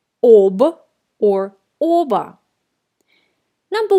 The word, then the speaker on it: об: Я ничего не знаю об этой игре. I don't know anything about this game. Again, we write о in the preposition об, but we pronounce а.